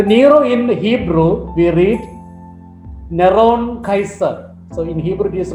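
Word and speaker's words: נרון קסר: So Nero in Hebrew we read Neron Kaiser. So in Hebrew it is written, it's a transliteration, N-R-O-N-Q-S-R, Neron Kaiser, pronounced Neron Kaiser.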